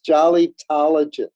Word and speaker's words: Jollytologist: It's Jollytologist. Jollytologist. I love it. Yeah, David, think of proctologist.